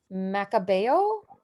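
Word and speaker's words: Macabeo: amanda you're gonna have to help me with pronunciation macabao perfect oof wow i'm totally just i'm just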